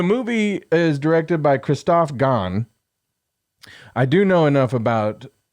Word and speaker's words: Gans: So the movie is directed by Christophe Gans. I do know enough about France that you wouldn't pronounce the S. I'm pretty sure.